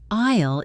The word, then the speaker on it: aisle: Would you prefer a window or an aisle seat? Isle is pronounced like island without the and.